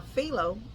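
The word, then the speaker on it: Philo: how you say it P h i l o Pho or felo Pho um so I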